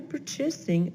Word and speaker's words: purchasing: While some money is used for the yearly purchasing of hardbound books, A little bit of trouble with that one. Purchasing, stress on the first syllable, for the yearly purchasing.